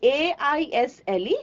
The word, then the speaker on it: aisle: is an eye okay I a a i s l e the pronunciation is aisle okay so what is